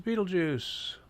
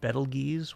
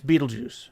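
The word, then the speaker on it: Betelgeuse: flew right through it this is Beetlejuice that is how you say that right I always pronounced it ble geese when I was growing up reading Hitchhiker's Guide to the Galaxy I had no idea apparently it's Beetlejuice right just like the Michael Keaton one of the brightest stars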